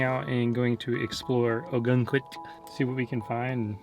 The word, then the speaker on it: Ogunquit: i said it right no you didn't it's not sdon it's quit oh a gun squid we cannot get this name a gun queen yeah a gun quit a gun quick a